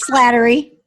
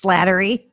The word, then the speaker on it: Slattery: i got it right here's flattery what's that it's slattery flattery i got it wrong all right i haven't have whatever anyhow right we're having fun already yeah slattery all right um welcome